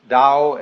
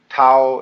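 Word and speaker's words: 道: a Dao ta AO pronounced Dao in the Mandarin dialect Tao in the changhai dialect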